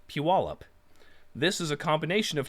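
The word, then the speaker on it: Puyallup: solve the pronunciation problem the second one is pronounced piwalip this is a combination of two separate words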